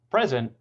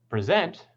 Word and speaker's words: present: are some more examples present with primary stress on the first syllable is a gift present on the second syllable is to do a presentation or a talk to a group of people desert on the first